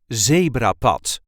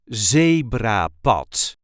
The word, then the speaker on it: zebrapad: the way we say zra pot zebra pot there is a light emphasis on the first syllable zra pot zra pot zra pot